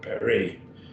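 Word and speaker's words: περί: Peri, notice two syllables, peri. Each vowel gets a syllable, peri, and that our word perimeter comes from it.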